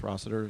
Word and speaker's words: Rossiter: And our last speaker is Rossiter with the, well, I hope I'm pronouncing your last name correctly. Good Good evening. Rossiter, CHRASROSSITER.